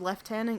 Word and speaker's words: lieutenant: didn't Rob this house it was someone named leftenant Colonel wolf so isn't leftenant Cardinal the most